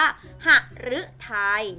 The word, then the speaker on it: หฤทัย: เสียง หรือ ก็ คือ อ่าน ว่า หฤทัย นะ คะ หฤทัย เห็น นะ คะ มัน ออก เป็น เสียง รึ ต่อ ไป คฤหาสน์ มัน